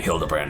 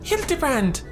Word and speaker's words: Hildibrand: You're the one who keeps calling me Hilderbrand Noir, aren't you? Since part ways, I've searched every alien die ever keep for signs of this fily grand character. It's pronounced Hildebrand.